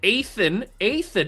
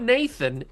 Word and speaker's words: Athan: We have a senior quarterback in Athan, not Nathan, Athan Kaliak Manis, I'm pretty sure that's how you pronounce it.